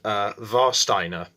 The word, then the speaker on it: Warsteiner: and I'm talking about Warsteiner, spelled Warsteiner. Obviously, I'm guessing, considering it's a German beer, the W is pronounced V.